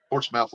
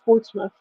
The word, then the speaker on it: Portsmouth: called out in Port Portsmouth Ohio and I just started laughing yeah it's pronounced Portsmith yeah it ain't got no Smith in it smouth Port SM I